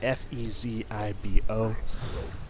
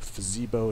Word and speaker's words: Fezibo: I've heard people pronounce it differently. It's F-E-Z-I-B-O. I like to say Fezibo because it sounds awesome. So if that's not how you pronounce it, it should be.